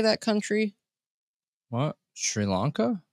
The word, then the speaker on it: Sri Lanka: you know how to say that country what Sri Lanka Sri Lanka okay yep so there is the 35-year-old mother